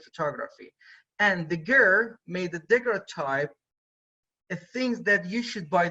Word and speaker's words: daguerreotype: So daguerreotype means that because his name was Daguerre, so he called it daguerreotype, or in English daguerreotype. In French it's daguerreotype, in English daguerreotype.